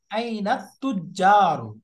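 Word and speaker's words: أين التجار: এরপর একটা বলো আইনাল তো, আইনাল তিজারু আইনাল লাম উচ্চারণ আইনাত হবে, তিজারু আইনাত তুজারু, আইনাত তুজারু তুজারু, তাজিরুন তুজারু, তুজারু তাজিরুন তুজারু আইনাত তুজারু।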